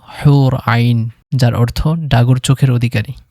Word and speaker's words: হুর আইন: ৯ নম্বরে রয়েছে হোরাইন, এবং এর আরবি শুদ্ধ উচ্চারণ হলো হুর আইন, যার অর্থ ডাগর চোখের অধিকারী।